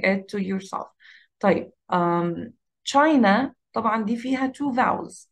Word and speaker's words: China: بسرعة جدا، ما قلتهاش China، no I said it China China China. So the stress is on the first syllable.